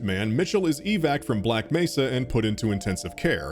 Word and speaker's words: Black Mesa: like it and yeah originally the voice actor mispronounced black Mesa as black Messa but thankfully that seems